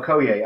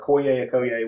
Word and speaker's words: Okoye: You know, Okoye, I think is how you pronounce it. Okoye, which is...